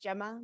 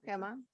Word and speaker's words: Gemma: My name is pronounced Gemma, but it's also Gemma. I answer by both.